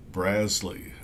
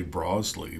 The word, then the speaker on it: Brazle: I am confident about brazley I have to be careful not to say broley but according to the pronunciation guide it is BRZ like jazz Le so let's get to